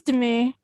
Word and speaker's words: Demi: Is it Demi or Demi? It's Demi.